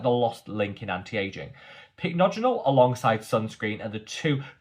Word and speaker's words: Pycnogenol: I actually used to refer to it as phycogenol. I've corrected that. That was never the right way to pronounce this ingredient. I learned that lesson. I'm now pronouncing it correctly, which is Pycnogenol, but I think because